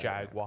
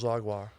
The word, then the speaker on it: Jaguar: I think it's Jaguar. Jaguar. Jaguar. Yeah, because what is it? They always make fun of us because we say it Jaguar. Yeah. Jaguar. We get- say it like we're from Texas.